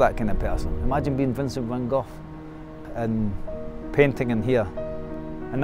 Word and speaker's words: van Gogh: Vincent van Gogh. Or van Gogh (Empasis on Dutch pronunciation.)